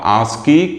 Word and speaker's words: ASCII: ठीक, मैं standard book को फॉलो करता हूं, इसमें इसका जो प्रोनाउंसिएशन है वो आस्की लिखा हुआ, इस वक्त मैं यहाँ पे आस्की लिख दिया हूँ।